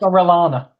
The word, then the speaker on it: Orellana: Orellana is someone who, not that I've never heard of him, but I only know him in FIFA because he's Chilean. So, yeah. You don't know it's pronounced Orellana?